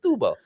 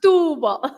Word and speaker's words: Setúbal: The accent is on the U. It's Setúbal.